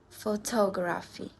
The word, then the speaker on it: photography: So, words ending in this. We stress in the second last syllable. I have some example.